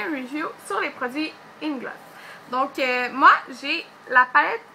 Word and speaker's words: Inglot: c'est je sais pas il en a qui prononcent inglo donc Inglot donc moi je dis Inglot puis c'est ça donc